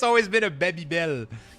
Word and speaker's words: Babybel: For me, it's always been a Babybel. It's never been a Babybel. You know, it's always been I've always pronounced it like you would pronounce it in French, but obviously the name